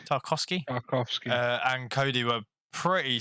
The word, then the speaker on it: Tarkowski: Tarkowski. Tarkowski.